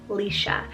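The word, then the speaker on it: Laoise: name here we have the name alicia so l-a-o-i-s-e lisha this one means radiant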